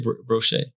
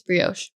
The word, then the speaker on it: brioche: know i think it's brioche really i didn't know that i think it's brioche but anyways um i might sound dumb but i'm pretty positive that's how it's pronounced but that's awesome um